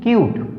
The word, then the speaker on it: cute: ऐसे ही CUTE, अगर इसको ई को हटा देते हैं कट बन गया, हमारा तो वर्ड ही गलत हो गया। अब इसको क्या करेंगे? ई जोड़कर इसका हम उच्चारण सही करेंगे, CUTE क्यूट, ठीक है।